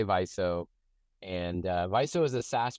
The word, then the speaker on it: Viso: viso U vizo uh we don't like to hear is Vio definitely not Vio the other ones are kind of permissible and and of course as we like to say paying customers can pronounce it however they like right um in any case um yeah we say viso and viso is a